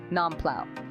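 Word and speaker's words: น้ำเปล่า: dining in just ask for n plow pronounced n plow easy peasy another great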